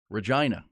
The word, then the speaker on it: Regina: think it's Regina but it says here that the way they pronounce it it rhymes with you know what yes Regina so mangina yes exactly